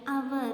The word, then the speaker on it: hour: Here, hour, the word hour, H is silent.